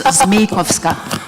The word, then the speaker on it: Zmejkowska: When they mispronounce my name, but it's Zmejkowska.